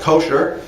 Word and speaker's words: kosher: American it's usually called kosher south usually pronounced with the accent on the first syllable but in Biblical Hebrew